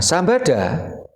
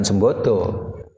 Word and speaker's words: Sambada: Nah, Sambada ini bacanya juga bukan Sembodo, karena relevansinya kesulitan kalau diartikan Sembodo. Jadi Sambada, ya.